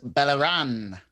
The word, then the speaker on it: Beleren: I believe it's pronounced Beleren, but go on.